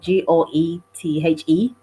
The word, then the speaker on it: Goethe: It's spelled Goethe.